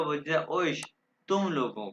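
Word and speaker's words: euch: ओइश ये ओइश है, औख नहीं कहना, ओइश कहना, ओइश तुम लोगों को।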